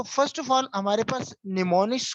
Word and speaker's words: mnemonics: So first of ऑल हमारे पास निमोनिक्स को pronounce किस तरह किया जाता है, इसमें आपके सामने ही है कि निमोन एक इसको प्रोनाउंस करते हैं, the initial word M इन निमोनिक्स is silent.